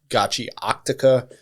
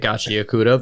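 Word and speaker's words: Gachiakuta: If you listen to any of the interviews with the mangaka she says gachi octaca.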